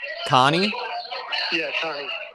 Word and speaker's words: Connie: had a question on how how do you pronounce is it coney or connie connie and gene uh jean jean okay john and